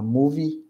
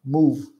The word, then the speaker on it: movie: Movie, not move. Não é move, não é com V mudo, tá? É movie, a pronúncia, tá?